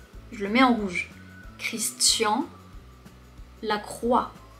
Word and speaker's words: Christian Lacroix: Et le nom de famille, Lacroix, on ne prononce pas le X. Je le mets en rouge. Christian Lacroix. Christian Lacroix.